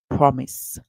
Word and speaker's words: promise: Our next word, per, and the I makes the sound A, the short I sound, and s, promise. The E at the end is silent. So our word is promise.